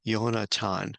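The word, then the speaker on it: יונתן: Yonatan is how Jonathan's name is pronounced in Hebrew.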